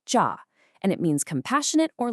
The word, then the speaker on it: 慈: In Korean, it's pronounced ja, and it means compassionate or loving.